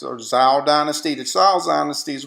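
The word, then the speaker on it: Zhou: Then you have the Chao, or it's pronounced Zhao Dynasty.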